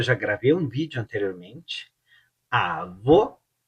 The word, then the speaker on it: avô: Avô, avô, ela você abre, avô e fecha.